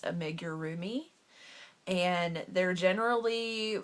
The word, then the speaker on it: Amigurumi: these dolls before but I believe how it's pronounced is a major roomie and they're generally 4